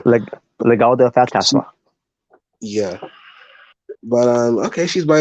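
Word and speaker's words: Legado del Fantasma: No Santos, no Legado to Phasma, Phantasma. I keep mispronouncing that name. Legado de Fantasma.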